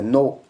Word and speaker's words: know: For example KNOW, नो। आप यहां पर देखो पहले के है फिर एन है, यहां पर के साइलेंट रहेगा, यानी के और एन मिले हुए हैं, कॉम्बिनेशन में एन, के साइलेंट रहेगा। इसको पढ़ेंगे नो। दूसरा KNIF, नाइफ।